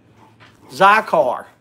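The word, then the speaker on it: Zicar: to hi hey randy zycar zycar thank you jail did you hear me zy car z-i-c-a-r zy-car is how it's pronounced zy car so this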